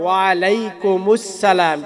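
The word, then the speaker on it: وعليكم السلام: আর সালামের উচ্চারণটা হবে ওয়ালাইকুমুসসালাম। কিভাবে? ওয়ালাইকুমুস সালাম।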